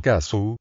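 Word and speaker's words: 粕: En japonés el carácter para escribir sobras de comida, pronunciado kasu, se compone de dos radicales que significan blanco y arroz.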